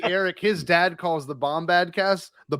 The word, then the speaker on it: Bombadcast: his dad calls the bombad cast the boomba cast that always makes me laugh he done it that's awesome the boomba cast they know enough of your podcast to say it wrong oh how's the boomba